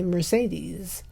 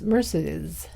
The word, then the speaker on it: Mercedes: it on TCM that I was mispronouncing Mercedes Mercedes mccambridge's name I used to say Mercedes I guess it's Mercedes anyway that's it that's